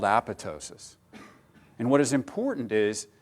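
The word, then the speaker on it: apoptosis: importantly it's pronounced tosis with a silent p and the reason this process is important these were a group of Pathologists that made very important discoveries by looking at tissue sections and apotosis is well suited to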